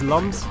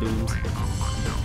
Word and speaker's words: Lums: A lot of people call those things lums because it's spelled L-U-M-S. If you're a true Rayman fan, you'll know they're called looms.